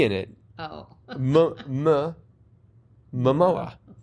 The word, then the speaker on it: Momoa: I know it's Jason Momoa, the name that cannot be spelled just by saying it out loud. Momoa. Momo. See, I say Momoa.